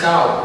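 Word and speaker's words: เก้า: The number 9 is pronounced as cow, which means moving forward, and it signifies progression in general.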